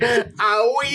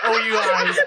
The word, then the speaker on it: oui: Owie? It's spelled O-U-I. That's owie. Did you just say owie, ma?